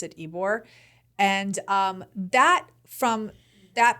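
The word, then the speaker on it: Ybor: yes it's y b o r but you pronounce it ebore and um that from that place to hide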